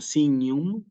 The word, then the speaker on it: signum: la penúltima sílaba Sí cuando yo tengo palabras que son de dos sílabas como signum y sane tengo que acentuar siempre en la penúltima sílaba no existe entonces decir